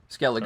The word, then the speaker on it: Skellige: I'm gonna have to pronounce some of these things right for you before some of our fans go, Drew. Skellige.